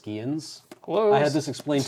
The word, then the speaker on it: Scions: I believe they're pronounced Skians.